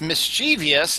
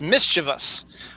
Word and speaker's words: mischievous: Now they say, let's see, they say it's not pronounced mischievous, it's pronounced mischievous.